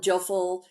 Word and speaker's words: Jophiel: I call it Jophiel. You can call it Joful, whatever.